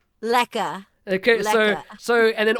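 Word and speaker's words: lekker: I spelled l-e-k-k-e-r but we don't pronounce the r that's because you know English colonists so it's lacquer lekka okay so so and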